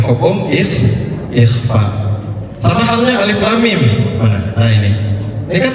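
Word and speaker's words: الم: Cara membacanya dita ditahan. Makanya kita bacanya alif lam. mim. Karena kenapa? Ada hukum idgham mi mimi. Jadi cara membacanya dengan ditahan, bukan alif lam mim atau bukan alif lam mim. Ditahan dua ketukan saja karena mim ketemu mim.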